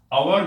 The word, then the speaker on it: hour: 3, और उसके अलावा आपने सीखा कि आवर में एच साइलेंट रहता है, HOUR आवर।